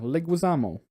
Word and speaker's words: Leguizamo: John Leguizamo how the you pronounce that yeah Leguizamo John Leguizamo he is thin in that picture